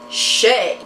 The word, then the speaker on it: Chet: Oh Chet is such a deplorable name it's pronounced chay you know this by now I don't care